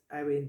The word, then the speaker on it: Eowyn: I think you say that name as Owen, probably. It's spelled Eowyn.